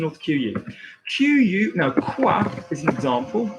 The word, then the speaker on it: quoi: QU, now quoi is an example. That would generally be like a KW, like quoi, or quoi, no.